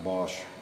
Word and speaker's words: Bosch: Kenmore Tools qui a été acheté par Bosch, prononcé Bosch service solutions, de sorte que la spécification générale